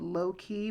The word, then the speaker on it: Loquie: It's a Mexican restaurant called Low Key, but it's spelled Loquie.